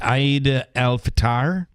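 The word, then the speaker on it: Eid al-Fitr: Frozen four um so how do we pronounce this holiday today if people are asking it's Aid alatar um and it is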